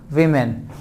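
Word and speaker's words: women: वुमन, विमेन, this word is actually pronounced वुमन and this word is actually pronounced विमेन।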